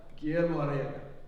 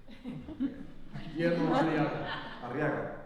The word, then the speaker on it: Guillermo Arriaga: was, can you just run through the proper pronunciation of your name? Let's get this right. Mr. Perfection. Guillermo Arriaga. Guillermo Arriaga. Yes. Okay, thank you. I know that the Arriaga is kind of difficult. Guillermo Arriaga.